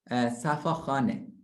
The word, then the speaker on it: Safakhaneh: Safakhaneh. Can you pronounce Safakhaneh?